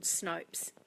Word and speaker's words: Snopes: pronounce that right and it does rhyme with soaps so it's called snopes if in opa es